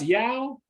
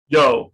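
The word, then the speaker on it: Yeoh: movie michelle as well as they pronounce yao yo you know yo michelle yo is great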